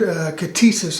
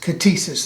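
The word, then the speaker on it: κτίσις: It is a Greek word, katesis, I think is how it is spelled. Let me see here. Yes, K-T-I-S-I-S, katesis, that's correct.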